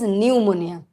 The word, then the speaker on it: pneumonia: u p new ammonia but p is silent so it is pneumonia yes dharma very good